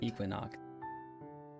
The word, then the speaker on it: Equinnox: Equinnox. And welcome to my debut. That's how you pronounce it.